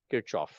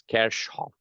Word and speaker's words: Kirchhoff: When we first learned this, we pronounce it as Kirchhoff. And apparently it's a German physicist. The actual German pronunciation for this name is Kirchhoff.